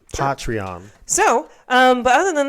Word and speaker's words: Patreon: weird every single time because that's how it's pronounced patrion so um but other